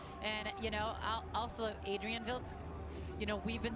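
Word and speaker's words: Wildschutt: And, you know, also Adrian Viltz, you know, we've been saying it all different ways. He actually told us how to say his name yesterday. Vildscoot.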